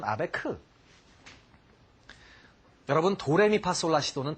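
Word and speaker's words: Abegg: 작곡했던 음악들을 한번 들어보겠습니다 아베그 변주곡 혹은 우리가 아베크 변주곡이 얘기합니다 아베그 변주곡 이게 뭘까요 아베그 이걸 보면 A라는 말로 돼 있습니다 aeg 아베그 독일식 발음은 아베크 여러분 도레미파솔라 시도는 다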